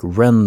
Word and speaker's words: Ren: at my name tag my name is ren pronounced like ren the bird what he did next